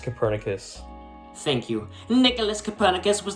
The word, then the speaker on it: Copernicus: instance around that time the polish astronomer nicolas coppernick yeah it's pronounced copernicus thank you nicholas copernicus was the first to